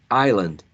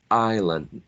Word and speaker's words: island: not get this pronounced i'll island island this is not pronounced okay so those are